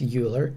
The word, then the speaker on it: Euler: So I'm guessing it's pronounced Euler diagrams.